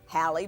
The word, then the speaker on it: Halle: It was the same as Halle Brothers Department Store.